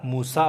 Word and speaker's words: موسی: لکه موسی. موسی ګوره په اخر کې یا لیکل کېږي، خو هغه موسی ویل کېږي.